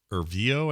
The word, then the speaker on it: Erivo: And by the way, one of the greatest actors in this thing is Cynthia Erivo, I think is how you say her name.